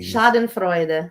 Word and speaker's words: Schadenfreude: Schadenfreude. Yeah, Schadenfreude.